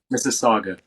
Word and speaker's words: Mississauga: Missaga.